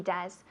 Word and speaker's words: does: No, porque es una O y E, pero se pronuncia como una U en inglés.